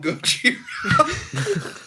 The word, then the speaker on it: Gojira: So, Oh, you mean Gojira?